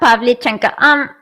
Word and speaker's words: Pavlichenko: Ludmila Pavlichenko.